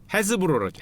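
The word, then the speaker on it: Hasbro: 완구 쪽 계시는 분은 당연히 마테라고 하스브로 다 아는 데인데 지금 여기 있죠. 헤스브로라죠. 헤스브로. 하스브로가 아니라 헤스브로라 그러는데 발음이 안 좋아 죄송합니다.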